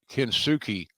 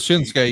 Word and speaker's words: Shinsuke: See, all along, I thought the guy's name was uh, Kinsuke, uh, and, and Instead of Shinsuke, you thought it was Shinsuke.